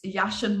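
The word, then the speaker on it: Jachin: I always pronounce Yashin wrong, but I've been informed that is how we're supposed to say it with the J.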